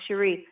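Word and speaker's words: Sheri: h e r i like Jerry but it's pronounced Shere because there's an accent over the eye we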